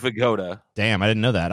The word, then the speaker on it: Abe Vigoda: That's how you say it in fucking Abe Bagoda's last name. What the fuck? Okay, number one, TJ, it's Abe Vigoda with a V. It's with a B, dude. No, it isn't. Really? It's Abe Vigoda.